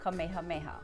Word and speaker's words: Kamehameha: named after the king who unified the islands, Kamehameha.